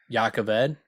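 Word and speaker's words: Jah Keved: And I also don't like Yakaved because, again, why'd you spell it with a J? If it's going to be Yakaved, you should have spelled it differently.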